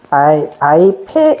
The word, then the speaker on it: 바이페: 두 번째 줄에 바이하르 레 카인 메오드 바이페, 요거는 바이페라고 읽어야 됩니다. 바이페 안에 페가 점이 있기 때문에 바이페루, 그 다음에 바나브 이렇게 돼 있어요.